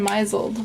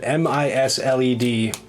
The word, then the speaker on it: misled: And about 10 years ago now, I think, I finally figured out that MISLED does not in fact spell Meiseled.